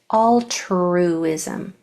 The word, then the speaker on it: altruism: Altruism. Make sure you get this R pronounced really clearly. Um because it might be hard to push that sound out in that spot, but force it. Altruism.